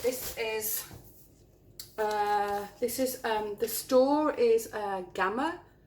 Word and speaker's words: Gamma: Anyway, this is, I'm not going to open the paint, but this is the store is Gamma, or you pronounce it Gamma in Holland, and it's this brand, Wooden Wall, which I've had quite a few times.